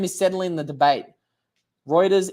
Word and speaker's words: Reuters: is settling the debate Reuters is like routers thank you Dan that's